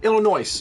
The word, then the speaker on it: Illinois: Illinois, yeah. You don't pronounce the S.